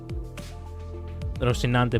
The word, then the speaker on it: Rosinante: Oh, because she has the boots which is rousinante. I cannot remember the name. Something about some something that rhymes with rinante. I'm not sure. Rosinante boots.